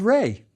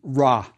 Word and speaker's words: Ra: the god determinative and that's Ray the Sun God I bet you've heard you pronounced raw that's fine too remember we aren't sure about the vowels the god determinative is